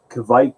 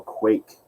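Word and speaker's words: kveik: uh kevic ale yeast which can be pronounced uh kevik or quake apparently they say on the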